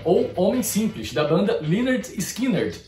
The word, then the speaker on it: Lynyrd Skynyrd: da banda Lynyrd Skynyrd, ou Leonard Skinner. Não é que o nome da banda tenha duas pronúncias. É que o nome da banda é basicamente uma paródia do nome de um homem simples chamado Leonard Skinner.